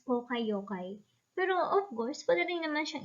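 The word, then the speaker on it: poka-yoke: problems in japanese equivalent this is pronounced as poka yokai pero of course whatever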